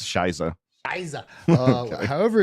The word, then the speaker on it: Shizo: It's pronounced Shiza.